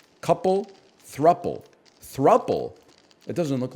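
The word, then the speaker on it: throuple: it's should be pronounced is it is it thropple that doesn't sound right that sounds like it should have two P's couple thruple thruple it doesn't look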